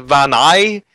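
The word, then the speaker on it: Vaani: I heard people say Vani and Vanai, but it was 2 A's. I pronounce that as Vani Research Station.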